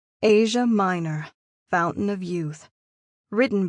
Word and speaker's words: Aja: My name is Asia, pronounced like the largest continent on the planet. Asia.